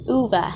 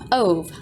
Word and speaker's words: Ove: For those who still don't know, his name is pronounced as Uva instead of Ove.